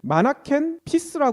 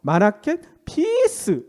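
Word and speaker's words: Manneken Pis: 얘기한대로 오줌싸게 동상의 이름이 마나킨 피스라 그러거든요 근데이 피스가 오줌싸다 얘긴데 이게 발음이 피스랑 비슷하잖아 평화 아 그래서 마라켄 피스 뭐 이런 식으로 이미지를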